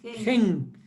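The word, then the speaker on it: חן: Esta es la palabra gracia en hebreo que se pronuncia, ¿cómo se pronuncia? Sí, la palabra gracia es gen.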